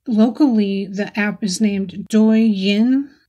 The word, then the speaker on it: Douyin: Locally, the app is named Douyin, Douyin pronunciation.